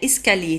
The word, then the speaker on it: escalier: أو السلم l'escalier escalier l'escalier لاحظوا على أن escalier تنتهي ب L I E R وتنطق lié escalier R لا تنطق لا نقول